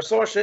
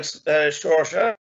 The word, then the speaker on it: Saoirse: So we're typing a word that phonetically sounds like Saoirse. So I'm going to type in maybe S-H-O-R-S-A.